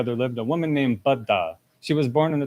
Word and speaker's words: Baddha: And a quick warning: Baddha's name sounds very close to Buddha, so I'm going to try to pronounce Baddha just a little bit different than Buddha. So we've got Baddha and Buddha.